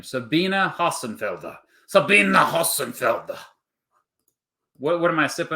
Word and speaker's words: Sabina: Okay, see, way to start the stream horribly by mispronouncing her name. Sabina Hassenfelder.